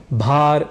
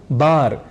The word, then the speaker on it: भार: हैं सभा या जनसभा ऐसे ही भार या प्रभार को बार या प्रभार बोल जाते हैं और फिर ऐसे